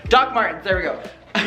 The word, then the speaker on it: Doc Martens: They are Dr. Martin. Did I say Dr. Martin? Wait, how do you pronounce it? It's like Doc Martens. Doc Martens, there we go.